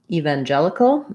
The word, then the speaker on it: evangelical: She's also asking about evangelical, another one that has more than one pronunciation, evangelical. So this one, main stress is on the gel syllable.